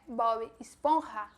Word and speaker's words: Bob Esponja: Em espanhol, ele é Bob Esponja, com a mesma coisa, pronúncia do J.